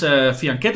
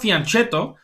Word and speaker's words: fianchetto: That's the way you pronounce fianchetto. It's not fianchetto, as we think, because it's an Italian word, actually.